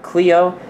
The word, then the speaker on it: Kleio: And I highly recommend you check out Cleo in the marketplace for free or for $2.99. And it's spelled K L E I O.